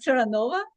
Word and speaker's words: Taranova: my name is Teranova and my name is my fate because uh not many people can pronounce it right away. You no uh well it rhymes with supernova, right?